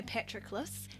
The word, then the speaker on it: Patroclus: And the story is written from Patroclus's perspective. Side note, I would love to say Patroclus, however, Google pronunciation said Patroclus, so my hands are tied.